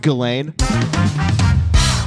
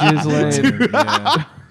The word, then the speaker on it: Ghislaine: talking about Ghislaine? I don't think- the lady that I was don't in think It's there's- pronounced Ghislaine.